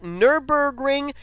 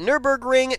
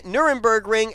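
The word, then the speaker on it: Nürburgring: we are going to I believe it's pronounced Nurburgring I call it Nurburgring Nuremburg ring and new burger but anyway we will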